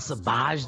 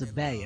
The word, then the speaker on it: Sabaj: He says, it's not Sabaj. The J is silent. It's Sabay.